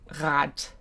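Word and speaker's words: Rad: Uh those are both found at the beginning of a word or at the beginning of a syllable. So rat rat means wheel or bicycle.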